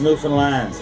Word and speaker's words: Newfoundland: And it's pronounced Newfoundland, not Newfoundland or Newfoundland.